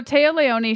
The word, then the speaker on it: Téa Leoni: And then we have it's Taya Leone. Is that how you say her name? Yeah. I've never had to say it out loud. Okay, so Téa Leoni, she is Madam Secretary.